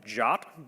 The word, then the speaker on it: JWT: the first one is something called chop believe it or not that's how you pronounce this JWT this town stands for